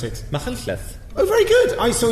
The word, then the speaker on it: Machynlleth: How do you pronounce it? Machynlleth.